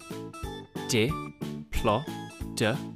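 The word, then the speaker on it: Diplodocus: all about deoa how do you say that again D plotus how big was a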